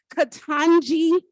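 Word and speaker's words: Ketanji: people ask me how to say her name katanji Brown Jackson Justice katanji Brown Jackson this is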